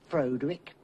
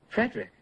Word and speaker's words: Frederick: Do you also say Froderick? No, Frederick.